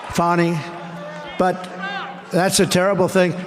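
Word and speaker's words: Fani: the horrible case of Fanny Willis it's it's actually pronounced fonny it's f a n i but you pronounce it fonny a little French accent there fonny but that's a terrible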